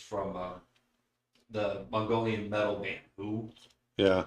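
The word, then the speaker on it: The HU: Ah, but yeah, I think my favorite of hearing Mongolian throat singing is from the Mongolian metal band Who. Yeah, it's spelled H U.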